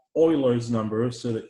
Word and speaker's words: Euler: It's called Euler's number. So the E stands for Euler, who was a mathematician. Okay, and it's spelled E-U-L-E-R, okay?